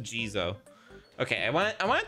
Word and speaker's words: Jizo: quick uh pronounce try saying okay it is just gizo okay I want I